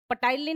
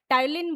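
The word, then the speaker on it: टायलिन: पटाइलिन नहीं बोलना। टाइलीन बोलना है। पीसाइलेंट होता है यहां।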